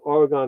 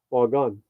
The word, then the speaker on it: Oregon: Sue says we're saying Oregon wrong. The proper way to pronounce it is Oregon. Ah, like what you shoot. Oregon, not Oregon.